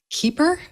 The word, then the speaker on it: Kuiper: x is telling us it's keeper well that's the german pronunciation that didn't help scooter